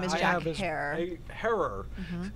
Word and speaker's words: Herer: Herer, because it rhymes with terror.